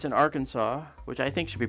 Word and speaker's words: Arkansas: It's in Arkansas, which I think should be pronounced Arkansas.